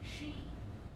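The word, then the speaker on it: Sidhe: He's the prince of the Daoan city, or Sid, or Side, or however you want to say it. How do you say it? She. It was not she. S-I-D-H-E is she.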